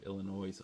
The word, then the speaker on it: Illinois: doesn't it it's like people who pronounce the S at the end of Illinois's oh my gosh yes